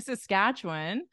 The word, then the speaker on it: Saskatchewan: winter so more mild compared to compared compare Saskatchewan announce this one you got it good job